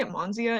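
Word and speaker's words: Monsea: which is or monsieur i say amanzia in my head but it's it's spelled like m-o-n-s-e-a and that's it's because it's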